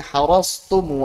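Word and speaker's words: حرصتم: Berikutnya watta'a min harastumu afadtumu wa khudtumu kadza wa ma faradtum. Berikutnya huruf ta. Harastum afadtum wa khudtum ma faradtum. Nah, perhatikan. Yang sebelumnya tebal, taknya tipis. Tu tipis.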